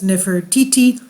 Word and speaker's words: Nefertiti: and Lower Egypt and while modern need to talk to go pronouncing pronunciation renders her name as Nefertiti her name was probably contemporaneously pronounces never tie et so we'll see she